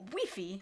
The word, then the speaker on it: Wi-Fi: of the word Wi-Fi in Spain we pronounce it wiy whiy whiffy that makes sense and